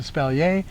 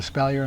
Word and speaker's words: espalier: in different directions um i've heard it the word espalier pronounced espalier espalier and espalier all of them apparently work on the according to the dictionary and so i've always called it espalier i'm just going to keep doing that but you do want